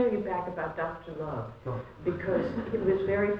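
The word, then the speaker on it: Lowe: Love. L-O-W-E, but in French it's pronounced love.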